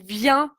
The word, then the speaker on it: vient: Et donc, n'oublie pas, c'est il vient avec un T. D'accord? Il vient T. Donc, c'est la même prononciation que je viens ou tu viens, mais on va mettre un T à la place.